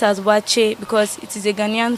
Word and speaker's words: waakye: correct name of that food is watching this pronounced as watch it because it is a ghanaian food basically from